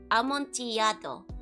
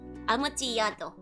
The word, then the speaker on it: Amontillado: It's actually pronounced like Y, so Amontillado. Amontillado.